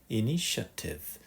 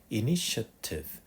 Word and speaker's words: initiative: 발음 살짝 조심하세요. 아니라 initiative initiative initiative 이렇게 얘기합니다.